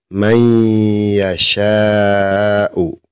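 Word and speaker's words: من يشاء: Maka kita tidak boleh membaca ban, tetapi harus dimasukkan ban yasiro. Seperti itu cara bacanya.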